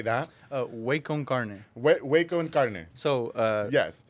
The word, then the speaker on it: Waconcarne: Waconcarne. Waconcarne. So, yes. Way, like ¿qué onda, way? Oh. Con carne.